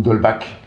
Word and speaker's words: d'Holbach: d'un monsieur qui s'appelle d'holbach ou dole bac si vous le prononcé à la française ça c'est l'idéal ostroff h au nba